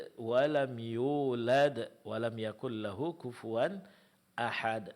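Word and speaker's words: وَلَمْ يُولَدْ: Walam yulad. Walam yulad. Nah, di sini mad wau setelah huruf ya.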